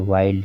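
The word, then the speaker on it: wild: आया हुआ है, लेकिन यहाँ पर यल का उच्चारण किया जा रहा है। देखिए वाइल्ड, चाइल्ड, माइल्ड, यानी कि सभी वर्ड में यल का उच्चारण हो रहा है।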